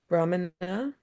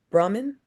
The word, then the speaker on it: Brahmin: Brahmana, or do I say Brahmin? Yes. Then the A is silent.